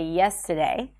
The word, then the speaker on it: yesterday: You can drop the R in words like yesterday, and instead of saying yesterday, you can say yesterday, yesterday.